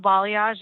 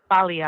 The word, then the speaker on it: Balayage: So Instagram, it's Bella Balayage. It's together. That's it. Bella Balayage. Can you spell that for people? BELLA BALAYAGE. Balayage. Oh, see, also, I thought it was balayage.